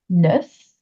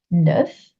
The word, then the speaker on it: neuf: letter H, like heure, it's actually going to soften the F into a V sound.